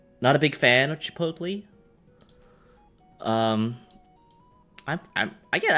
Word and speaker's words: Chipotle: Chipotle. Chipotle. Chipotle. Chipotle. Good. Like it's an American um restaurant. I have to pronounce it the correct way as Americans would.